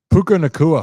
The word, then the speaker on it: Puka Nacua: And a guy named Paku, how do you say it? Puka Nacua.